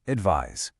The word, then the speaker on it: advise: Next, advice versus advise. The noun advice rhymes with nice, while the verb advise rhymes with size.